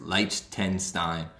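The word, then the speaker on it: Liechtenstein: nine nothing victory versus light 10 stein wrote them down the first time did not see that t in the middle that that's actually hard to pronounce leicester in time chance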